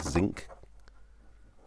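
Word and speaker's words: Zink: cartridges, which are called zinc. Zinc, I think they're called. Oh yeah, zinc, because as in the metal zinc, but with it spelt with a K rather than with a C.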